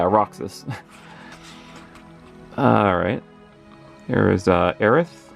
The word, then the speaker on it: Aerith: alright there is uh Aerith or arey I call her Aerith that's how I pronounce it there's Tifa Lockheart